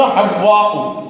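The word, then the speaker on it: حواء: আসলে শব্দ আমরা হাওয়া বলি, মূল উচ্চারণ হলো হাওয়া। হাওয়া, হে মানে হা পাওয়ার পর একটা তাসদীদ আছে, হাওয়া, হাওয়া।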